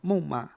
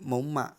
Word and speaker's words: 猛犸: 纠正一下，不叫猛犸，正确读音为猛犸。